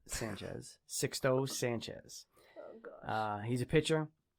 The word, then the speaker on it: Sixto: go with the marlins sixto sanchez not six toe sanchez sixto sanchez uh he's a